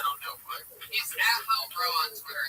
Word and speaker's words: Lilbrough: He's at Lilbro on Twitter. It's very hard to spell, but he's so funny. I'll spell it out for you. At LILBROUGH. He spells road with 3 silent letters at the end.